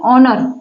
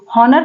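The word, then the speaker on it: honour: कहेंगे एक गलत है देखिए ओनर ओनर कहेंगे हनर नहीं कहेंगे हेयर कहेंगे हेयर कहेंगे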